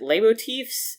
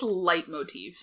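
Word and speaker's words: leitmotifs: the like is it is it lay motifs? Is that how you say it? The L EI t I think it's light motifs.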